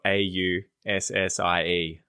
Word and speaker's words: Aussie: So you'll end up, like a lot of Americans say Aussie because they think that the S-S is an S sound in the word as opposed to a Z sound.